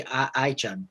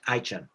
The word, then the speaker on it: Aycan: I would tend to say Aycan, but I understand it should be Aycan or something like that. Aycan.